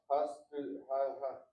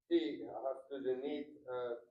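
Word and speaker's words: הסטודנט: Hastudenti, hastudent, Ha-student, hastudent, not student, that's English. Ha-student.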